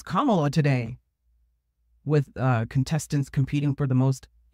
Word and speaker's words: Kamala: It's Kamala, like Kamala. Kamala. The number of ways people have butchered her name. I heard someone call her Camila today.